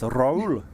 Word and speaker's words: Raul Mondesi: Yes, of course, Raul.